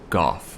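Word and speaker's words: Gough: And there was Hawkeye Goff, or Go, depending on who you ask how it's pronounced.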